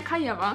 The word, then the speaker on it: Nechayeva: However, another song that is speculated to do well is Estonia's entry, and this is by ELINA NECHAYEVA. I'm sorry if I mispronounced that, feel free to correct me, and